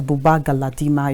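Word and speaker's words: Buba Galadima: interviews with one of your founding fathers that's Bubba galadima if I'm correct with the name pronunciation to you that's correct and then you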